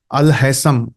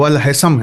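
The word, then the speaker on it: Al-Haytham: गगल करके देखना चाहिए अल हैसम एच ए वाई टी एच ए एम यह स्पेलिंग लिखते हैं कि सुनाई दे व अल हैसम है अल हैसम ने जब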